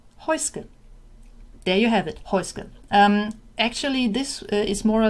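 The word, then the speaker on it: Häußge: How do you pronounce Heuske? There you have it, Heuske.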